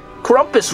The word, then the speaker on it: Krampus: know you know Duncan Krampus rhymes with rumpus oh my god what